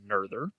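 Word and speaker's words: Noether: the first thing is nerders syndrome yep that's right it's uh pronounced nurther and she was a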